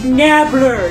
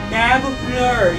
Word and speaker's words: Nabbler: It's Nabbler. Yes, that's how you spell it. That's how you say it. Nabbler.